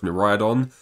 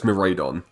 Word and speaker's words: Miraidon: I mispronounced his name a lot. I used to say it was Miraidon. I didn't see the A, in my defense.